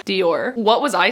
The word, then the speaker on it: Dior: What's that fashion word? Dwyer? No. Oh my god, how do you pronounce that word? Dior.